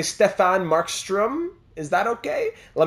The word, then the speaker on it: Stefan: If you want the perfect pronunciation, which I do, how you'd say the word step, but remove the P and add fan, so more like Stefan instead of Stefan.